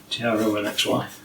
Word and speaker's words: TronXY: the extrusions out i'll show you how you pronounce this tiara and xy anyway here's a five x5sa pro yeah x5